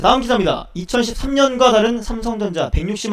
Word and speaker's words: 삼성: 다음 기사입니다 2013년과 다른 삼성전자 160만 원 돌파한 이유 뭘까요 사진 잠깐 보세요 삼성 우리나라는 삼성이라고 발음하지만 해외에서는 뭐 삼송 이렇게 얘기하 이렇게 발음하던 자 19일 현지시간 기전입니다